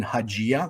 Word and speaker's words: Haggai: Haggai, Haggai. Oh, Haggai. Oh, okay. I can't pronounce that wrong.